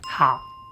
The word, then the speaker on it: 好: Today, we're going to look at five characters often mispronounce. Let's start with how.